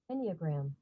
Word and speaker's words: enneagram: word e n n e a g gram enneagram enneagram cool enneagram enneagram enneagram bam the enneagram